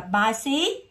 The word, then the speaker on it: bicycle: đi với chữ Y, hoặc nó đi với chữ I á, nó ra âm S thay vì âm C. Thì đọc là bicycle.